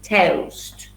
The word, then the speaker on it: toast: beans on toast okay you say toast with a diphthong oh toast yes tea beans cheese and